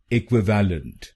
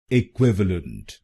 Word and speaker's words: Equivalent: लोग गलत बोलते हैं, जैसे इक्विवेलेंट। आइए जानते हैं ये प्रोनाउंसिएशन गलत क्यों है और इसकी सही प्रोनाउंसिएशन क्या है। इसकी सही प्रोनाउंसिएशन है इक्विवेलेंट। इक्विवेलेंट। इस शब्द में 4 शब्दांश हैं। पहला शब्दांश है ई, दूसरा शब्दांश है QUIV, तीसरा शब्दांश है ए और आखिरी शब्दांश है LENT।